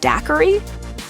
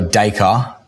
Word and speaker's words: Dacre: one user hilariously tweeted is Dacre Montgomery's name pronounced like daiquiri the actors set the record straight so dye car is just a car like five acres to the next farm right say the unit